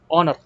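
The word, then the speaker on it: honor: ओ एन ओ आर लिखा तो है हनर लेकिन यहां पर क्या है कि एच जो है साइलेंट है हम एस तो पढ़ते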